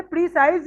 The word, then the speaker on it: precise: प्रेसी, इट्स प्रेसी, S silent है, प्रेसी Precise. प्रेसी। अच्छा, प्रीसाइज भी एक वर्ड है इंग्लिश में, उसे प्रीसाइज तो कहते हैं Yes.